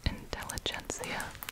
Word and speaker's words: Intelligentsia: be honest with you okay i looked it up in english it's intelligentsia intelligence i'm sure in different languages this is a lot of crinkles here we go intelligentsia black cat direct trade